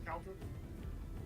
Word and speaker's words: Cauldra: Is it Cauldra or Cauldra? Am I saying it wrong? It's Cauldra. Caldra. Cauldra, it's your turn. Like cow.